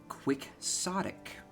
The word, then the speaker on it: quixotic: Oh, apparently, according to Oxford Dictionary, it's pronounced quixotic.